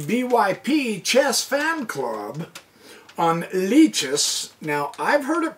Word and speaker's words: Lichess: what anyone else says I'm going to collect leeches okay the chess site mich ESS i think